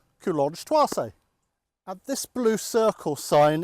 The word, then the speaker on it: Coulonges-Thouarsais: Well, this is our village and it looks complicated, but if you think of it in 4 syllables, Coulonges-Thouarsais. Coulonges-Thouarsais.